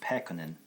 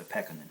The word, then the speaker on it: Pekkonen: My last name is pronounced Pekkonen. Well, that's not as bad as I thought it would be. Pekkonen. It's a Finnish name, and in general, when you pronounce Finnish words, the first syllable gets a little accent on it, stress. So Pekkonen is how you say it.